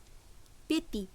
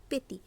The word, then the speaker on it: petit: তো সাধারণভাবেই এখানে টি এর উচ্চারণ হবে ত হিসেবে, কিন্তু ঠিক এখানেও দেখব শেষের টিটি অর্থাৎ টি একটি কনসোনেন্ট, তাই শব্দটি সম্পূর্ণ উচ্চারণ হচ্ছে না, উচ্চারণ হচ্ছে PETIT পেতি।